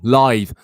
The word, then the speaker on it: lithe: Lithe.